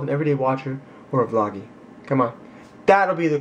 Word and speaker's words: vloggee: everyday watcher, EDW, or vloggy? Which I've been calling since the beginning of the channel. VLOGGEE. That's how you say it. It's like employee. It's like you're the employee, I'm the employer.